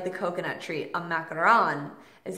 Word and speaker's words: macaron: to try traditional French crepes traditional French macarons macaron is how you do the two light pastries with the ganache in the center a macaroon is the coconut like the coconut treat a macaron is how you pronounce it for like the